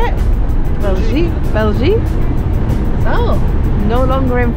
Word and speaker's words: Belgique: Belgique.